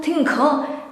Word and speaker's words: tinggal: Tinggal. Slowly. Tinggal. Ga. It is like ga, but you say gal. Tinggal. Okay. So it's not tinggal, it's not tinggal. Tinggal.